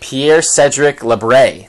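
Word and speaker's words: Pierre-Cédric Labrie: um I looked up this guy last night Pierre Cedric lebre that's how you say it um younger guy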